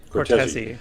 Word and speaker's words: Cortese: The conductor is, as we mentioned, Maestro Cortese. Am I pronouncing that right, or is it Cortez? That is right. Cortese, yes.